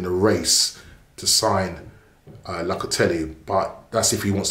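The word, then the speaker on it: Locatelli: said linked with um la catelli or la catelli as i've been told to pronounce it right locately um you know we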